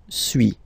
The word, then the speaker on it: suis: So first one, suis, as you've been noticing, you don't pronounce the final S, okay?